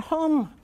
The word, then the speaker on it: home: But home, which looks exactly the same, has a long O.